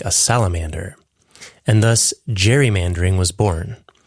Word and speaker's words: gerrymandering: And thus, gerrymandering was born. You can also pronounce it garrymandering.